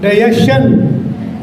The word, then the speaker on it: digestion: Shan or chan? Shan. So you listen people speaking. Digestion. It's a digestion. Just like question, this is not shan but chan.